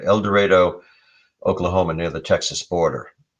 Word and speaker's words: El Dorado: uh see oklahoma el dorado that's how they pronounce it el dorado el dorado oklahoma near the texas border and there was